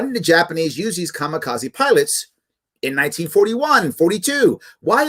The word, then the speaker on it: kamikaze: famous or infamous japanese kamikaze which is actually should be pronounced kami kaze which actually means divine